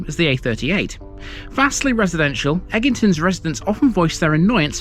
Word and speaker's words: Egginton: the a38 vastly residential eggington's residents often voice their annoyance about their Village's name Outsiders often unwittingly add an extra G over pronouncing its name as eggington instead rest assured there are